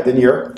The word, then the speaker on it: denier: This is a 140, how do you pronounce it, denier? Yeah, denier. I want to put that French twist to it.